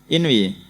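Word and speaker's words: انوِ: Jadi diingatkan ibadah wa anhu annahu qala dari Zaid Asyami bahwasanya beliau berkata ini bacanya inwi atau anwi. Inwi.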